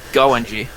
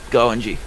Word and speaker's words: Goenji: Goenji. Goenji. That's how you say it.